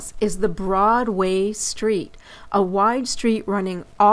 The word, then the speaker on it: Broadway: older New Yorkers who still call it Broadway with the accent on the way instead of Broadway with the accent on the broad as we say it today.